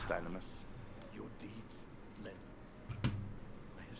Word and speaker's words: Dynamis: It's been established it's pronounced Dynamis.